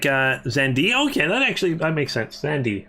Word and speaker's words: Xande: Oh, you say it like Xande?